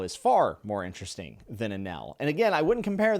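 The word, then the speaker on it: Enel: long for instance anel which in the viz Edition is spelled like iniru but I'm going to say a Nell because it's I've heard people say it before but anella's cool however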